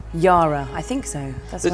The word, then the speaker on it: Yara: Gemma Whelan, Yara Greyjoy, welcome to Thronecast. Thank you very much. Thanks for having me. I say Yara rather than Yara. Yara, I think so.